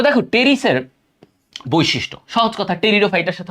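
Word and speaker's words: Pteris: এখানে কিন্তু উচ্চারণ হবে টেরিস। অনেকে পিটাকে উচ্চারণ করো। পি হবে না। এখানে পি এর উচ্চারণ উজ্জ। এটার নাম হবে টেরিস।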